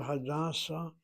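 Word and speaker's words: הדסה: So the word Hadassah accents the first syllable. If you say that word Hadassah, second syllable, that's the hospital.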